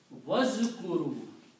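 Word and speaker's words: واذكروا: So when you pronounce, you do not pronounce this alif. You combine waw with zal. Okay, wazkuru and remember.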